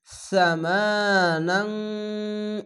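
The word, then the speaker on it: ثمنا: সামা, এখানে অবশ্যই সা এই সিনের মতন উচ্চারণ করবে না, এটি সা, হালকা জিহ্বা বের করে সা এরকম উচ্চারণ হবে। সামানাং, ইকফা গুন্না বাংলা অনেস্কার মতো নাং, এভাবে গুন্না হবে।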